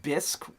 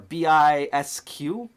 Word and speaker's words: Bisq: We're going to be looking at, I think it's pronounced Bisq or Bisq. It's like Bisquick, like the pancake stuff.